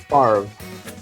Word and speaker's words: Favre: It's pronounced Farv.